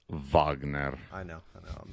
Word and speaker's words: Wagner: so it's pronounced Wagner I know I know I'm not gonna do